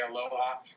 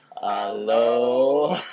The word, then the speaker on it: aloha: And the last syllable is ha. And that's perfect for us. We just roll the ha part when we say aloha into a giggle or